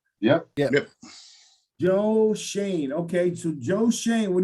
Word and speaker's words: Schoen: pronounce his name correctly is shane really with the oe that's the way he pronounces it yup how do you say it shane like shane mcpherson yeah joe shane okay so joe shane